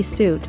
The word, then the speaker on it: suit: Note that the UI is pronounced as the long oo sound.